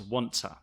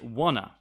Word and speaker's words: want to: you want to also want to becomes wanter very common one two in a lot of examples is pronounced t going to go into okay and once uh we can also say wanna going to gonna joanta